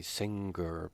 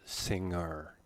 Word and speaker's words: singer: there is a good sound many students say singer but that's not right it's singer she was singing this word is pronounced opposite opposite the opposite of tal is